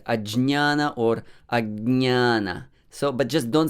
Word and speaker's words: ajñāna: as i'm not saying agiana uh maybe like gya many people say guyana and agyana yeah it's not guyana there is no sound ga there and there is no sound ye also so what is this